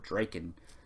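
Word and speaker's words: Drakkon: I'm probably always going to say Lord Drakon because that's how I always thought it was pronounced, but it's Lord Draken. Because that's, I think I heard David Jason Frank pronounce it that way, so I'm pretty sure that's how it's pronounced.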